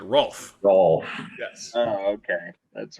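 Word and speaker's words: Rowlf: didn't quite get in in a puppet accent they would they pronounce it rolf yes oh okay that's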